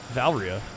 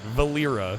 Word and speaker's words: Valera: Valeria. Is it Valeria? I don't know. Valera? See, it looks like Valeria to me. Alright, Valera. It's 3 syllables.